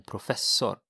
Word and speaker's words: professor: And here, remember that the professor is the same in Swedish, but you have to pronounce it in a Swedish way.